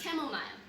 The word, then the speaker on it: chamomile: this is the last one okay uh it's pronounced chamomile chemical tea is some sort of herb her